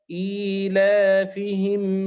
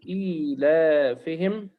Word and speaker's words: إيلافهم: ننتبه في هذه الصورة إلى أن كلمة إيلافهم الياء فيها محذوفة لم تكتب لكنها تنطق. انظر إلى الألف ليس بعدها ياء مكتوبة وإنما هي علامة فقط تشير إلى أنه هنا ياء تنطق لكن لا تكتب.